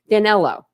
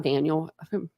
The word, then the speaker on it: Danelo: didn't even cover it danelo that's it danelo not Daniel whatever danelo um so